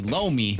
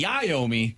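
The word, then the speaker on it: Iommi: And then you say Tony Lomi, which isn't his name. It's Tony Iomi.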